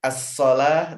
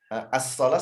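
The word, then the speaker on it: الصلاة: Nah, penulisan aslinya as-shalah seperti di Al-Baqarah ayat 3 tuh pakai waw, padahal dibacanya alif dia kan? Iya. As-shalata itu aslinya, kata salat tuh begitu.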